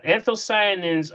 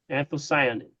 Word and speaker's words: anthocyanins: Yeah, anthocyanins are any of the purple or the blue colors that are with, you know, that's what gives it the ability.